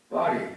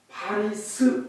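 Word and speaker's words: Paris: 하고 물으면 파리 그러잖아요. 파리를 영어로 쓰면 P-A-R-I 파리스 그러잖아요. 그런데 왜 S를 파리스라고 발음을 해야 되잖아요. 그런데 영어로 할 때는 S는 발음을 안 해요. 그래서 파리 그래요.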